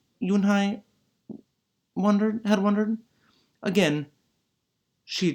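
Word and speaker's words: Unhei: I corrected it spelled you and hei it's pronounced you and I oh it's you hey a voice the boy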